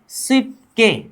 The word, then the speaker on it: 쉽게: नीचे की तरफ ब आया, साइड की तरफ ग आया, तो ब नीचे आ जाने पर प उच्चारण होगा। ब ने अगर ग को टक्कर मारा तो ग का उच्चारण क्या होगा? क होगा।